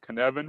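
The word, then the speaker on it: Cynefin: who are familiar with the Canan C YN fi n Welsh word pronounced canvan for those who are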